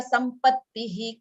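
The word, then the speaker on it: सम्पत्तिः: Shamadhi Shatka Sampattihi ka. Shamadhi Shatka Sampatti Kaha. Tihi, okay, tihi. The visarga.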